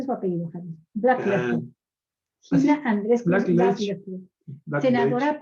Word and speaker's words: Blackledge: Se pronuncia su apellido, Javier. Blackledge.